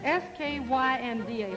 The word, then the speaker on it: skynda: Ingemar, there's one word in there I've been trying to pronounce. S-K-Y-N-D-A.